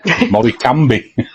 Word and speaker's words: Morecambe: carry on that's okay M cambi to pronounce it right yeah wo game absolutely